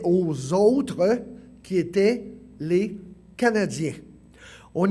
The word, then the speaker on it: Canadiens: Remarquez bien qu'il est toujours écrit et prononcé en anglais comme « Canadiens », pas « Canadians », n'est-ce pas?